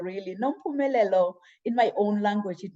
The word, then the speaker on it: Nompumelelo: I know many, when they try to say my name, they always butcher my name, but Nompumelelo, really, Nompumelelo, in my own language, it means mother of all success.